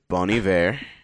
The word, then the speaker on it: Bon Iver: Bon Iver. Or Bon Iver, however you want to pronounce it. Bon Iver. But it's Bon Iver. I heard her pronounce it once. It was like French sounding.